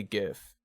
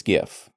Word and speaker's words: GIF: I just don't care you add a t to this word it becomes gift okay it's not gift